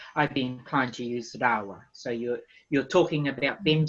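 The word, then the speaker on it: rāua: Yes, you can say me, or if you're usually with people, you use rawa, R-A-U-A, rawa, Oh, right.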